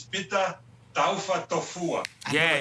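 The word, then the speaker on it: Pita Taufatofua: The proper pronunciation is Pita Taufa Tofua.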